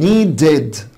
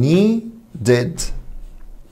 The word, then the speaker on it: needed: طب needed هتقول لي هنا بعد الدي ساوند او ده ساوند الايد بتنطق اد يبقى الاخرانية هتبقى needed.